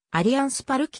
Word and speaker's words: Allianz Parque: 呼び方でありブラジルでは主にアリアンスパルキと発音するプラジル国内で最も